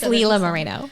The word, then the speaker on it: Lila Moreno: please don't hate me i always get your name wrong it's okay it's leela moreno leela mourinho i call you lila more than